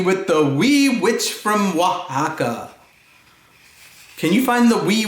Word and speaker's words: Oaxaca: to play Ouija with the wee witch from Oaxaca can you find the wee witch from Oaxaca